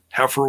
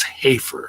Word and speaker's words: Hafer: i i owned that heifer was my knicker was my nickname my my last name is hafer so yeah it's like you know a mispronunciation of my last name but it was